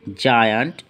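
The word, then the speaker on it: giant: জি এর পরে ই, আই, ওয়াই থাকলে উচ্চারণ জ হয়। যেমন জিইএম জেম, জিআইএএনটি জায়ান্ট, জিওয়াইএম জিম।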